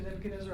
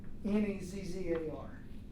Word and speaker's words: Nebuchadnezzar: Nebuchadnezzar. I'm a bad speller, so if you are too, that's the right way to spell it. Nebuchadnezzar. Nebuchad, those two are pretty easy. Nezzar, Nezzar.